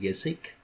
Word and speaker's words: Gesicht: Some robots are more advanced, like our main character is I don't know how to pronounce his name. Yesik. Yeah, Um, it's like Gesicht.